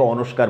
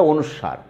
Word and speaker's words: অনুস্বার: বাংলাদেশের বেশিরভাগ মানুষ কিন্তু এটাকে অনস্কার বলে, অনস্কার বলা যাবে না, এটা অনুস্বার।